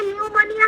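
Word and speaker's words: pneumonia: तो जैसे हमारे इंग्लिश में न्यूमोनिया है ना, पी साइलेंट जी। है, ऐसा नहीं, लेकिन ये ऐसे। पी साइलेंट नहीं है, पी बोलना है। नहीं हाँ। है ना, तो तब भी हम स्पेलिंग सीख लिए ना। हाँ हाँ, नहीं वो सही है, लेकिन कंपैरिजन गलत है, क्योंकि वहाँ पे पी तो साइलेंट ही है, इधर पी साइलेंट नहीं है।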